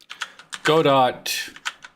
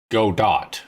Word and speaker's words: Godot: Godot, focus F, zoomed out.